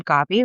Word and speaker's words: Gabi: And so I have forever gone by my childhood name, Gabi, which is the Spanish pronunciation for Gabby.